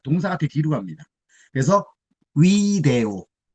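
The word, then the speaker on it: video: 그래서 위데오. 라틴어에서는 V를 우라고 발음한다고 말씀드렸잖아요. 우이니까 위데오가 되는 겁니다.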